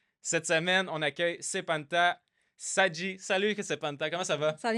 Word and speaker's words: Sedghi: Techniquement, on le prononce Sedri. OK! GH, c'est comme le son en persan.